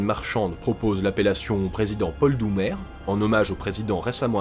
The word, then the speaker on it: Doumer: Si le ministre de la Marine marchande propose l'appellation président Paul Doumer, en hommage au président récemment assassiné, l'idée est rejetée. En effet, prononcé à l'anglaise, ce nom évoque le mot doomed, soit maudit.